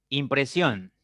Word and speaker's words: impresión: Impresión. Impresión. Impresión. Tiene 3 sílabas.